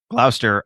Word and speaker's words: Gloucester: Gloucester, Ohio. Got it. See, I can learn. It's See? not the British pronunciation.